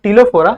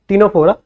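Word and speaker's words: Ctenophora: ठीक है, इट इज the phylum टिलोफोरा। एक सेकंड चेक कर लेने दो, टिनोफोरा है कि टिलोफोरा है, जस्ट अ सेकंड। हाँ, टिनोफोरा, सही है सही है सही है सही है।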